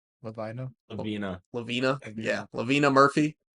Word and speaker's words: Lavina: How are we saying we're pronouncing that? Levany? Lavina.